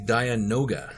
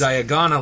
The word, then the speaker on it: Dianoga: because I you know got the that's the pronunciation problem. wrong. It's nope, it's gone. Go ahead, Russ. Yep. It is the Dianoga. Correct. There we go. And I not knew it was. Diagona like I thought it Yeah, was.